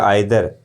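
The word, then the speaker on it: either: अब इधर, इसको इधर या आइदर दोनों जो भी उच्चारण है, इधर या आइदर दोनों उच्चारण होते हैं इसके।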